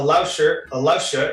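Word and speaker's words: 老师: So a Lausha is a teacher, and her name is Lu.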